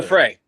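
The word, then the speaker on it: Giuffre: Gouffre.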